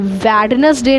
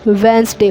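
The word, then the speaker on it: Wednesday: हैं रैपर और यह वेडनेसडे ना होकर वेनसडे होता है ठीक है तो हमने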